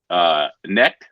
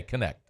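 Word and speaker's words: Knecht: The kid for Tennessee, Necht, is that his name? Dalton Connect. Dalton Necht. Connect. You pronounce the K, Connect.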